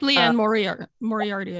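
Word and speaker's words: Liane Moriarty: is it how you say her name yep leanne moriarty i think yeah i read her books in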